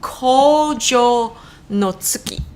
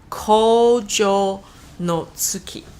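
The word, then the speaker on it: Kōjō no Tsuki: So this is called Kojo no Tsuki. Let's say that. Kojo no Tsuki. Now, Japanese is a very syllabic language. It's very much like Hawaiian. You pronounce everything you see.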